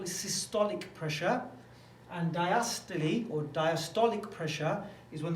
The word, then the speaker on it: diastole: We've got this word systole, spelled systole, but we pronounce it systole, and we got spelled. It looks like it says diastole, but diastole, the way I've been taught to say it.